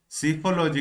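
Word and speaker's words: Psephology: वहीं देख लीजिए अगला ऑप्शन क्या है, सीफोलॉजी। यहाँ पे पी साइलेंट होता है, पर सेफोलॉजी नहीं होता है, सीफोलॉजी बोला जाता है।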